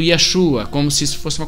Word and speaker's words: Yeshua: Eles então, essas vestes tradicionais judaicas, o nome Jesus, pronunciado Yeshua, como se isso fosse uma coisa importante.